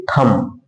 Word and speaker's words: thumb: THUMB है, यहां बी के पहले यम आया है तो बी का उच्चारण नहीं करेंगे और उसको हम पढ़ेंगे थम।